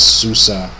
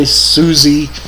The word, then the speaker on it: SUSE: that that is software o system and VI Susa and it says here that they've always been known as Susa now some people may say Suzie some may may say Susi but I will always pronounce it Susa because